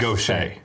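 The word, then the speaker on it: Gautier: Oh, I'm sure it's pronounced Gocha. Really? Yeah. G A U T I E. I know Gocha. So that's his first name. Gocha.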